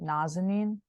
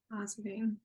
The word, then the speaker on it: Nazanin: So it's kind of a very slight difference, but Nazanin. Nazanin.